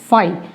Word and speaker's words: phi: pronunciation is phi.